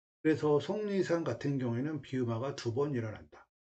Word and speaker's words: 속리산: 이응으로 발음된다. 그래서 속리산 같은 경우에는 비음화가 2번 일어난다.